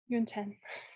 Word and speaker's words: Yonten: So yun like rhymes with moon, 10 like the number 10. Yonten.